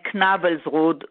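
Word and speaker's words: Knaevelsrud: the papers that describes it are Botche, which is spelled B-O-T like Thomas, T like Thomas again, C-H-E, Kuvert, which is K-U-W-E-R-T, and Knavelsrud, which is K-N-A-E-V like Victor, E-L, S like Sam, R-U-D, from 2011.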